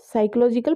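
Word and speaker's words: psychology: साइकोलॉजिकल principle है. तो P for play way, P फॉर साइकोलॉजिकल. ठीक है, P से साइकोलॉजी स्टार्ट होती है, साइलेंट होता है P.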